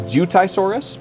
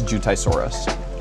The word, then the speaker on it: Jiutaisaurus: And the best pronunciation I could find for it after a quick search was Jiutaisaurus.